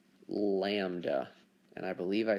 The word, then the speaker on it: lambda: like upside down why but this is called lambda and i believe i spelled that wrong but that's how you pronounce it lambda and this is the distance between our the